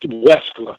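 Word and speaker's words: Wechsler: It's spelled Wechler, something like Wexler.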